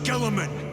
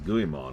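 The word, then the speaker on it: Guilliman: Sons of Gilaman. For the glory of Ultramar. For the glory of Ultramar. That's how you pronounce that. I thought it was Guimmon or something.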